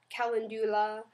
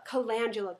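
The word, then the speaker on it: calendula: Hyuronic acid can calandula uh or calandula calangula colangula that's how you pronounce it. I just learned this that I've been pronouncing it wrong for eons.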